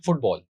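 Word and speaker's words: football: ऐसे प्रोनाउंस करते हैं फुटबॉल, आई am playing फुटबॉल। तो इसकी दो सिलेबल्स हैं। तो जो पहला सिलेबल है फुट, उस पर ज्यादा स्ट्रेस है क्योंकि उस पर हम ज्यादा फोर्स और प्रोमिनेंस लगा रहे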